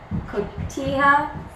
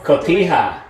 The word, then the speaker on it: cotija: John, help me with your cotija. Sorry, Senor Scolnare is not good. Help you with what? Correct pronunciation of this. Cotija.